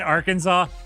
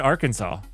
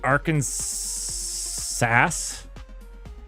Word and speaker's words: Arkansas: I say I said Arkansas it it's French the S is silent I have no idea how to pronounce the stupid name names are the worst all right names would it be arkans SAS do we call it